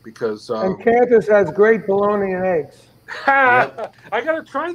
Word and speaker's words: Bologna: Bologna? Bologna. Hey, wait a minute. Bologna. They have your taco sauce there. That's the question. Bologna rhymes with bologna.